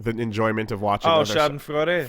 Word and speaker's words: Schadenfreude: Schadenfreude. Schadenfreude. Yeah, is that how we're gonna pronounce it? That's close enough. Okay, that. Schadenfreude. Whatever. Yeah, that. It's absolutely that.